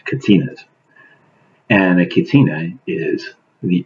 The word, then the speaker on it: Kachina: new Brides about catina's this how they're pronounced Katinas and a Catina is